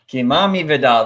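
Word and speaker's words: Kimani Vidal: all right I'm g go with kimami Vidal kimami Vidal that's exactly how it's pronounced here I knew that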